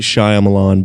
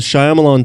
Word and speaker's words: Shyamalan: twists kept topping themselves say you're saying that real weird shyamalan shyamalan it's not shyamalan yeah it is look it up and look how okay look at how it's spelled i i've always heard it shyamalan i'm not shyamalan all right okay you've changed my mind um so m night